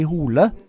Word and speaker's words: Hole: what so ever so I guess in Norwegian it's supposed to be pronounced like Ed Hardy hula and I guess in